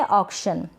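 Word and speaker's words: auction: ये है ऑक्शन, क्या है, ऑक्शन, ऑक्शन। ये AU है ना, इसको ऑ पढ़ा जा रहा है।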